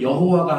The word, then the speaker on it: 여호와: 여호와하고 야훼는 같은 얘기예요. 같은 말이에요. 발음상의 차이가 났는데 여호와가 맞을까요? 야훼가 맞을까요? 뭐가 더 맞을까요? 둘 다 맞아요. 근데 우리가 보는 성경은 뭐라고 써 있습니까? 여호와라고 써 있죠. 학자들은 여호와보다는 야훼가 더 맞는 것 같다 이렇게 말하는 분들이 많아요.